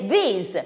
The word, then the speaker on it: this: abbiamo delle differenze mentre this finisce con la s di Snake these finisce con zd